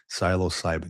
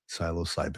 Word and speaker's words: Psilocybin: Siloscybin freaking Navy cop for the win, dude. Psilocybin. You can tell that I I say the word, but I don't read the word often. Psilocybin.